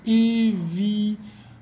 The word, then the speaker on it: évidemment: Alors ici, le mot évident, l'adjectif évident va devenir évidemment. évidemment. Je répète, évident devient évidemment. Ok, le EM se prononce comme A.